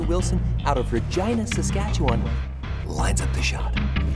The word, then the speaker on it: Regina: Wilson out of Regina, Saskatchewan, lines up the shot. His form looks good. Oh, that's why Regina rhymes with fun.